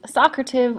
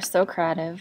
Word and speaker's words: Socrative: going to talk about how to use Socrative or Socrative I've heard it pronounced both ways um but essentially what